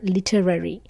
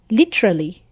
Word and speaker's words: Literary: was telling us how some would pronounce it as the word literally so I hope I'm